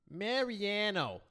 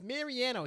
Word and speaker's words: Mariano: Mariano. That's not how you pronounce it. It's Mariano.